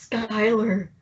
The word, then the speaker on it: Schuyler: After George Washington is revealed, Hamilton joins up with him, and then the Schuler Sisters happens. Schuyler Sisters. I've been saying Schuler Sisters. It's spelled Schuler. It's pronounced Schuyler.